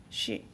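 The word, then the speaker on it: 四: Fourth layer, as you may notice, the word for in Japanese is mean shi, which means the same pronunciation as the word of death.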